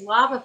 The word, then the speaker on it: Wobbuffet: Is that how you pronounce it? Is it Wobbuffet? It's Wobbuffet.